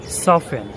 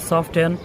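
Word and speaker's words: soften: এফ এবং টি যদি শব্দের মাঝে পাশাপাশি থাকে তাহলে সেখানেও টি এর উচ্চারণ সাইলেন্ট থাকে। যেমন সফেন, নট সফটেন, অফেন, নট অফটেন।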